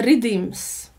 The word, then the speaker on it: riddims: mówi właśnie poddany, to w patła mówi się redeems na te rytmy.